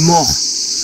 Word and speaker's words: Maures: Mais bon, pour l'instant, la grotte des morts. Alors quand on le dit comme ça fait un peu peur. Hein. Mais ça ne s'écrit pas M-O-R-T. Hein. Attention, c'est M-A-U-R-E.